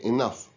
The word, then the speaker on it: enough: f sound in enough in enough we pronounce the gh as f so we say enough and we pronounce the